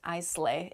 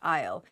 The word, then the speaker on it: isle: weird word so yes there's an s in the word isle but it is not pronounced i slay it's pronounced isle isle with an a